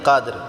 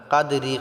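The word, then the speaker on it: قدر: উচ্চারণ করতে পারি না কাদরি কাদরি বলি এটা যদি আমরা এক নিঃশ্বাসে পড়ি তাহলে কাদরি ওয়ামা হবে যদি আমরা এখানে ওয়াকফ করি থামি তাহলে রাটাকে আমাদেরকে সাকিন করতে হবে কাদর লাইলাতুল কাদরমাটা আমরা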